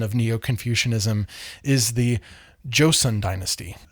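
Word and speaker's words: 조선: An accelerated hardcore version of Neo Confucianism is the Josen dynasty. It's often uh romanized as Josion, but it's really Josen, like Joe's son from one of the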